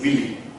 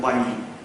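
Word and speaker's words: Wyllie: Many people are saying Willy, we are pronouncing as Curzon Wiley.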